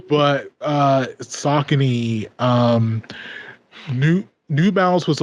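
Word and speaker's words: Saucony: like A6 before or s we used to pronounce it Sone which is wrong but uh sakon um new New Balance was always a East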